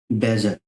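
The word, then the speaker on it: badger: Next word है हमारा बेजर। ठीक है, कहीं से बेजर और कहीं से बैडजर भी पढ़ा, लेकिन यहाँ डी जनरली साइलेंट होता है, बेजर।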